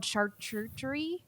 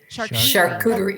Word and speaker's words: charcuterie: is um i don't even know how to pronounce this you probably know v it's called chartreutery a church charcuterie yeah yeah so the rural side of that